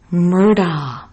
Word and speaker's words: Murdaugh: in this 9-1-1 call guess how it's said murder so i was pleasantly